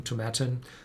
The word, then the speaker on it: Tomatin: cubacon as well the very smoky whiskey from tomatin and tibetan is pronounced as satin so not to matter that